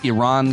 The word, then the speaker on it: Iran: and we can watch the US Iran game and make sure you pronounce it that way or else they will